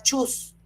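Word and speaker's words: Schütz: Huser chas que se pronuncia chus.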